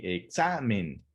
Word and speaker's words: examen: termina con n sí sabemos que la sílaba tónica se encuentra en la penúltima sílaba si examen si la última seriamente la penúltima sería sa y la antepenúltima sería el examen esa es una palabra